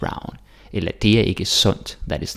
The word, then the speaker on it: sund: Så undskyld, underlig, rund, sund. And again. Undskyld, underlig, rund, sund. Okay? Yeah, you can do it. D is silent. Don't say undskyld and underlig, rund, sund.